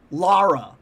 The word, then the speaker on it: Lara: I've heard in the games, her mom calls her Lara. Lara Croft.